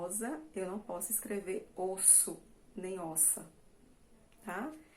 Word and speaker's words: osso: Então, aqui nós pronunciamos com o som de S normal, osso.